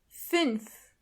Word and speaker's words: fünf: This letter is pronounced ü. To get the sound, start with a normal u and then make your lips even closer to each other.